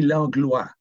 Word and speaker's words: Langlois: Okay, well, it should be Langlois. O-I in French is pronounced wa.